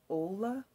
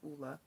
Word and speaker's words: Ole: saying it correctly because for the longest time i was saying ola but it's pronounced oola so this is just